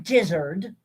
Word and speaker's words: Dizzard: by a gentleman named john dizzard which rhymes with gizzard and wizard um he looks to